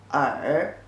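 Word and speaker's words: 耳: is written like this pronunciations are are certain are with your tongue slightly curved up are means ear and it's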